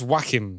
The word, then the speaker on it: Joachim: played by jesse plemmons prince joachim prince jackim yes uh well actually it's spelt j-o-a-c-h-i-m but he is very